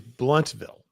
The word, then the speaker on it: Blountville: so saying blunt no Sharon said no Sharon yeah she said BL but then now she's saying blunt got okay now okay so we got it now so we got it is bluntville okay so we will